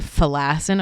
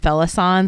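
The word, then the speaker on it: Felassan: got it correctly so when it came to fassin I was like oh my God and then we got confirmation that it actually is pronounced fison so I feel a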